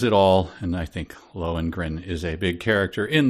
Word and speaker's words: Lohengrin: Lohengrin, is that how you pronounce that?